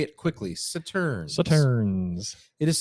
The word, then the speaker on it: Sauternes: Sauternes, if we're pronouncing Sauternes. that correctly. Say it quickly. Sauternes. Sauternes. It is Sauternes, and we're going to talk to you about.